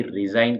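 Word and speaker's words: resign: रिजाइन कहते हैं तो इन सभी स्पेलिंग्स में जी का साउंड नहीं आर ई एस आई एन भी रिजाइन ही कहलाता है लेकिन स्पेलिंग तो आर ई एस आई जी एन ही लिखी जानी होगी नेक्स्ट है नेक्स्ट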